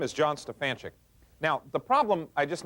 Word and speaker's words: Stefanchik: See, in other words, I say John Stefanchik as clearly as I can, and I get back things like John Stefan, which is okay. It's close, but it's not right on.